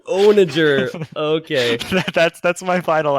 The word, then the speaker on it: onager: it was great uh onager is the correct pronunciation onager okay that's that's my